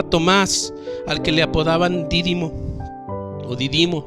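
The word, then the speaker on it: Dídimo: al que le apodaban dírimo vivimos no recuerdo exactamente dónde van acento en la primera dírimo dos primos era algo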